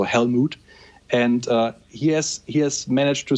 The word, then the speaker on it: HELLMOOD: It's spelled HELLMOOD, so Helmut.